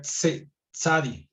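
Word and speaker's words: צדי: Porque en realidad se pronuncia como una T y una Z, o una T y una S juntas. Entonces, la forma de pronunciarlo sería Tzadi, ¿no?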